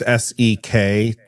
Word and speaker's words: Sektori: Sectori. It's spelled weird. It's Sektori, because I tried looking it up as SEC and I couldn't find it, but this game.